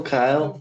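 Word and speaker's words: Cyle: Uh Southampton have announced uh Kyle. All right. It's interesting. So I presume it's Kyle, but it's C Y L E. Would you say that's Yeah, still Kyle.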